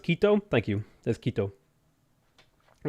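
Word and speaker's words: Quito: Kito is pronounced Kito.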